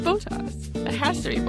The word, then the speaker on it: Bottas: I love Checo and I love Bottas. Although I hate that they say his name Bottas, because that just sounds wrong. Yeah. No. But like the Sky coverage says Bottas.